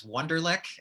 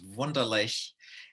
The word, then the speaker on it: Wunderlich: of course is um here in america we pronounce it as ugly as we can as wonderlic and um and in german it's wonderlace and i'll use that